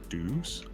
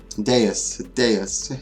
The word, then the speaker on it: Deus: Deus is his real name, but I call him Deuce all the time. It's just how I pronounced it when I first met him, and I've never changed it since then.